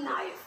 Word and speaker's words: knife: आर नहीं बोला जाता, जैसे कि KNIFE, नाइफ, नाइफ में के साइलेंट है.